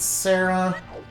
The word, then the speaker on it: Saria: be very important when we go to visit Sarah or Saria or however you pronounce her name I mean Saria yeah s yeah uh key smashing is you